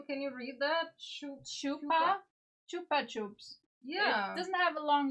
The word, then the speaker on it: Chupa Chups: So, we're supposed to stress the second syllable like the P and the P. Okay, I see.